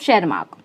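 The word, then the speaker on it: Tschermak: Hugo de Vries, Correns and वॉन शेरमार्क, टी is silent of शेरमार्क।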